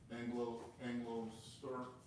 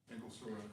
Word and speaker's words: Angostura: Anglo store. Angostura. He doesn't even Angostura.